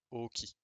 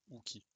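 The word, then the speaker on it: 王騎: Nous avons du coup Osen, Ohon et Oki. Leur nom de famille correspond, enfin veut littéralement dire roi. Donc Osen, Ohon, le H est marqué, et Oki. Et non pas du coup Uki.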